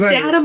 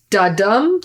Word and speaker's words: Datum: They're usually like, da-dum, da-da-da-dum. Like they never, I'm like, no, it's Datum. It's obviously Datum.